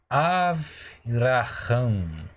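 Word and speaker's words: אַבְרָהָם: Então aqui você tem o V, o Vet. Lembra, eu já passei isso para você na segunda aula. Não tem o Dagesh, então é Vet.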